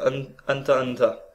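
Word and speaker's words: Hunter × Hunter: en ils disent home and turner me prononce pas le x je crois en anglais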